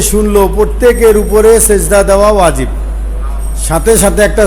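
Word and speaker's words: سجدة: থামলে হাসাকিন হয়ে যাবে উচ্চারণ হইল সাজদা উচ্চারণ কি সাজদা সেজদা না সাজদা বাংলা শব্দ না এটা আরবি শব্দ সাজদা আমরা আমাদের ভাষায় বুঝি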